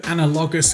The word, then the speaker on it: analogous: each other on the color wheel, and also analogous colors, analogous. This video just got demonetized. I need to look this up. Analogous pronunciation.